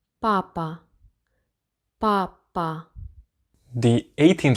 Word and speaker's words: папа: But the P is being pronounced exactly like the P in English, so papa. П. Папа.